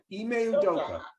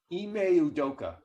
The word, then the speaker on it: Ime Udoka: I can't pronounce it. Udoka. Ime Udoka.